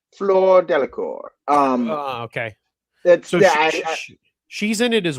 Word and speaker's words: Fleur Delacour: And the way I've always heard it sound is that Fleur Delacour.